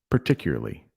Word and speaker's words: particularly: Particularly. So I say it more without the A at the beginning and more of an E, particularly.